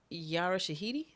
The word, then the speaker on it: Yara Shahidi: They had the drummers, and then Yara Shahidi.